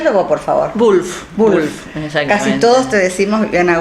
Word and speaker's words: Wulff: bien Viviana tu apellido en realidad a ver pronuncio vos por favor Wolf casi todos te decimos Viviana Wolf Bueno qué